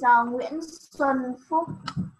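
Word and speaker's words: Nguyễn Xuân Phúc: It is Nguyen Xuan Phuc.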